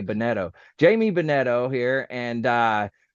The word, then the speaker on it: Bunetto: name and I apologize how do you say it benetto B BTO okay bonetto Jamie bonetto here and